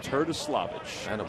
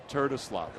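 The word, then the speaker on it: Terdoslavich: It's pronounced the way it looks, not the way it sounds.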